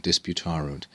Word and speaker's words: disputarunt: it begins with disputaroot this of course is a syncopated third plural perfect indicative the full form would be dis like so and this portion is left out because it adds an extra syllable it's a kind of abbreviation disputarunt they disputed or